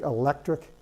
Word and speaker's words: electric: thing all the way down I mean take electric and electricity here the C represents a curse